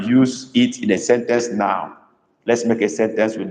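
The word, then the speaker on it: nnọọ: No. We don't say hi here. We say ndewo or no. No is spelled double N, double O, but dot under the O's.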